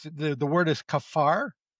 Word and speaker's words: kaphar: And um so, it's the the word is kaphar. K A P H R. That's how it sounds. That's how you pronounce it. K A P H A R. Kaphar. And that sounds just like our word cover.